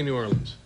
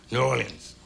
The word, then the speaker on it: New Orleans: this is New Orleans how do you say New Orleans New Orleans New Orleans New Orleans norleans New Orleans norleans New Orleans whatever uh red